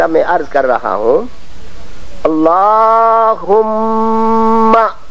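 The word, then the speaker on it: اللهم: عرض کر رہا ہوں، اللہم، یہ اللہم، اللہ کو ذرا لمبا کر کے پڑھنا چاہیے، کچھ حضرات اللہم کہتے ہیں، وہ صحیح نہیں ہے۔ اللہم، یہاں میم کو 2 مرتبہ پڑھنا چاہیے۔ صلی علی محمد المصطفیٰ،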